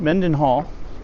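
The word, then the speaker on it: Mendenhall: I will say that uh, Me men Mend Menden Hall said it right.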